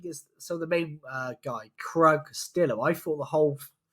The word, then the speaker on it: Krug: like the Krug, but they weren't pronouncing the G. So it sounded like Crew that they kept calling him, but then it says Krug.